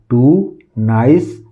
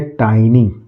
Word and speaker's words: tiny: तो मैंने आपको क्या पढ़ाया, टू, नाइस, दो, लेफ्ट, लाई। इसी तरह अगला देखते हैं TINY, कैसे पढ़ेंगे इसको, इसको हम टीनी नहीं पढ़ेंगे, ये है टाइनी, क्या लिखा हुआ है, टाइनी।